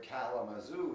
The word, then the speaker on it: Kalamazoo: Like the word Kalamazoo is 4 syllables, but it's got the first and last. Chattanooga has 4 syllables, but it's first and third.